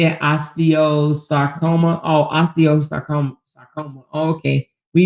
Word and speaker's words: osteosarcoma: Osteosarcoma.